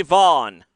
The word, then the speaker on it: Vaughn: go here comes Cory Vaughn last name pronounced like Robert vaugh the uh the actor